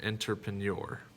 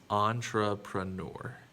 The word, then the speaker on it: entrepreneur: not an not an entrepreneur entrepreneur entrepreneur entrepreneur it is entrepreneur that is there's the nor sound in there entrepreneur let's look at our